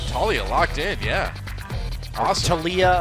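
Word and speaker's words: Taliyah: Talia locked in yeah tiia I guess is how it's supposed to be pronounced is it tiia I think it's tiia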